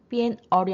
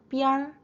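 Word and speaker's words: 边儿: 거기에다가 얼화 기법을 써서 읽으실 때 빈 얼이 아니라 삐알, 미엔 얼이 아니라 n이 묵음 처리되면서 미알 이렇게 표현이 되고 있고요.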